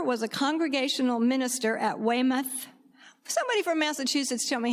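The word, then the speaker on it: Weymouth: Abigail Smith's father was a congregational minister at Wemouth. Somebody from Massachusetts, tell me how to say that. I did it right. Wayimoth.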